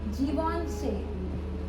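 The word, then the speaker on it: Givenchy: ভেঞচিয় ভেঞচিয় sure হ্যা এইটার নামের উচ্চারণ হচ্ছে জীবনচে জীবন চে জীবনচে দেখি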